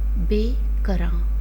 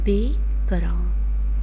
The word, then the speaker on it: بے کراں: پیارے بچوں، ابھی ہم اسی شعر سے جو لفظ لیے ہیں ان کی تلفظ کی ادائیگی سیکھیں گے. بے کراں، بے کراں، بے بڑیے بے، کاف رے الف نون گنا، کراں، بے کراں، بے کراں.